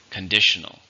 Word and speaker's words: conditional: How many syllables are in condition? 3. Stress on the second.